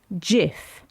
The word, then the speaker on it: GIF: is spelled GIF spelled like gift yet it's pronounced JF what just like Nike is Nike not bike